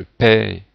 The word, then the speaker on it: paierai: I lorsqu'il y a un E muet, donc ici le E n'est pas prononcé, je paierai ou je payerai, donc on peut avoir les deux prononciations.